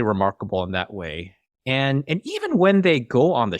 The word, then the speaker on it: Eve: I mean, technically her name is Eve, but the way he pronounces it sounds like Eva or Eva. It sounds like Eva, but yeah, it is Eve.